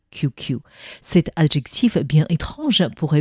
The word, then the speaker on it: QQ: Il s'agit d'un véritable adjectif composé de deux fois la lettre QQ prononcée à l'anglais QQ.